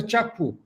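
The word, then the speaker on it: Kyaukphyu: you have China east it's called a chaku written as capu kap pronounced at chaku chapco there ham to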